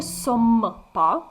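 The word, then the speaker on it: sommes: не сома так саме завдяки тому що у слові сом вас йде дублю Емма тобто подвійна літера м ми будемо сом вимовляти досить чітко згадуємо рибу сома так з великими вусами Ну не сомма ву нет паву нет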